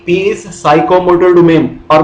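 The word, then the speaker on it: psychomotor: जैसे उसने कहा था कॉग्निटिव एक डोमेन है लर्निंग की, इसी तरह से साइकोमोटर एक डोमेन है, PSYCHROMOTOR साइकोमोटर, उसमें भी P साइलेंट है इसीलिए हम उसे साइकोमोटर।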